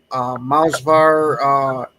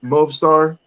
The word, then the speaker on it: Movsar: You got Mausvar, Elov, Yair, Ilya, Diego. No, Movsar. Say it again, Movsar.